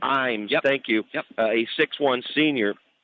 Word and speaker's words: Ames: Am I pronouncing it? It is Ashley Ames. Ames, yep.